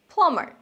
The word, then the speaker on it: plumber: number one my plumber plumber not plumber silent plumber cobbler Carpenter sound carpenter